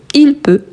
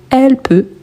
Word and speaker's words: peut: Ici on écrit avec T et on ne le prononce pas. Donc je peux, tu peux, il peut, elle peut, on peut.